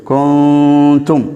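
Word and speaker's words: كنتم: என்ன செய்கின்றது இங்கே வருகின்றது உதாரணமாக நான் போட்டிருக்கின்றேன் குந்தும் என்ற வார்த்தையிலே நாங்கள் சொல்லும்போது மறைத்து உன்னாவோடு அதாவது இந்த சுக்குன் வைக்கப்பட்ட இந்த நூனை நாங்கள் சற்று மறைத்து உன்னாவோடு உச்சரிக்க வேண்டும் குந்தும் என்று சொல்ல வேண்டும் குந்தும் என்று வரக்கூடாது அதாவது சற்று அந்த நூனுடைய சவுண்ட் என்ன செய்ய வேண்டும் மறைய வேண்டும் சில ஆட்கள் அப்படி ஓதுவார்கள் அது தவறானது அதே மாதிரி ஹைரன் ஹைரன்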